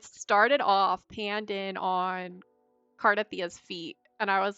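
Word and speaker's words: Cartethyia: So I think it was Cardathia, which I heard someone say her name is Cartithia, and I was so triggered.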